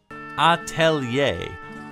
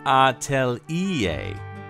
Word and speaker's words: Atelier: avons la chance d'être les seuls à savoir prononcer correctement. Atelier. Atelier.